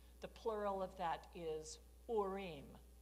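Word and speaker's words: Urim: Now the word for light you know it's or the plural of that is orim. Now Mormons pronounce that uram. Okay yurum and thumbum.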